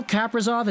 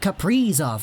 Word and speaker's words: Kaprizov: And I said that mostly because I was thinking of Capri Sun, like, you know, the drink.